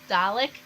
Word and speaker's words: Dalek: what is it Dalek Dalek so a bit like garlic but with the D at the beginning but it's not spelled the same but it sounds the same you guys are killing